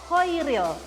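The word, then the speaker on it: Chairil: Makanya ada namanya Kohairil Anwar tapi pakainya ch dibacanya ko kho koiril.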